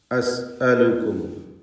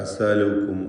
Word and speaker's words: أسألكم: ഹംസകളൊക്കെ വളരെ ക്ലിയറായി ഉച്ചരിക്കാൻ പ്രത്യേകം ശ്രദ്ധിക്കുക. അസ് അലുക്കും, പലപ്പോഴും ആളുകൾ അസാലുക്കും അസാലുക്കും എന്ന് ഹംസ വ്യക്തമാക്കാതെ പറയും, അത് ശ്രദ്ധിക്കേണ്ടത്.